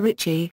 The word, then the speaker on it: rīchi: Some variations of Mahjong, most notably Japanese and Korean ones, allow a player to declare Richi, Lizi. Sometimes known as Reach, as it is phonetically similar.